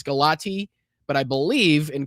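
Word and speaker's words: Galați: And I believe it's Galat the way that it's pronounced. I know that it looks like it's Galati, but I believe and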